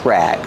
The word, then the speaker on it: rag: So we say it's a dish rag. Pronunciation rag. Use a short a sound like black cat.